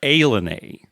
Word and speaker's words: Ilani: So the spelling is Ilani, but it's pronounced Ilani. Ilani, not like Ilani or Ilani. It's Ilani, even though there are eyes there. It looks like Ilani.